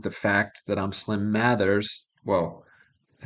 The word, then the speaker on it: Mathers: Slim Mathers Because he says matters.